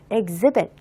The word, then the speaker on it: exhibit: 원래는 쓰이지만 전시회라는 의미로 명사로도 가능하겠고요 자 그러나 발음은 변화가 없습니다 exhibit 그런데 exbition이 되면네 비슷한 스펠링을 사용을 하게 되지만